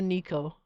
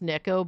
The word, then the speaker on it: Neko: Oh my god, I'm a Nico. I think it's pronounced Neko, but I've always said Nico, and I'm never gonna not.